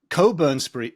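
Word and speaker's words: Cockburn: was Rabbi bum and Coburn Coburn Street is spelled c o c k b u r n it is it is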